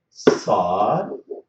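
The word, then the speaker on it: ص: So these letters, they should be pronounced. We have to push the tip of the tongue to the bottom of our lower front teeth.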